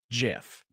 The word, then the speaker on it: GIF: It's pronounced gif.